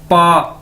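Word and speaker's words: 八: Okay, उसके बाद है जी हमारे पास नेक्स्ट वर्ड, नेक्स्ट अदद, पा, बी ए, पा। चाइनीज में बी को कैसे प्रोनाउंस करते हैं? पी के तौर पर, पे के तौर पर।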